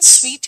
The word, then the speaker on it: suite: बेटा बात क्या है ना, ये मैंने लिखा था 2 सूट और ये SUITE लिखा था, इसका प्रोनाउंसिएशन स्वीट है, तो ये जो है